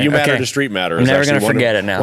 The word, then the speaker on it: Streitmatter: So that's how everybody pronounces it, and it was just easier to go with it. Streitmatter, just like it's 2 E's.